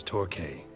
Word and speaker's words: Torquay: pronounced that as torque. Thank you for the hint. Like the physics Tell him I of send my torque.